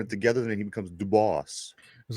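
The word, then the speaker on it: Dubas: back to you yesterday I want to apologize if I mispronounced the gentleman's name Kyle dubos apparently yesterday I was calling him dubus but you know what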